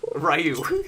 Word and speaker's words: Ryu: re you like yeah Ryu is actually how the Japanese pronounce it but with all over